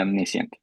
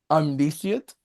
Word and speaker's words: omniscient: Did I mispronounce that? Yes. No, I omnis. Omniscient, right? Omniscient. Yeah. Yeah. Yeah. Julia said it right the first time. What did I say? Omniscient. No, you said it. You omnisient.